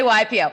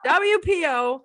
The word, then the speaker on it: WPO: I say it right for some reason I want to say YPO don't say YPO wpo wpo thank you for being with